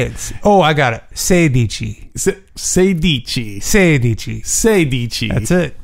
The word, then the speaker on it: sedici: Sedici. Sedici. Sedici. Sedici. That's it. Okay. You got Six it. Six plus ten. Uh-huh. Is? 16. Sendici.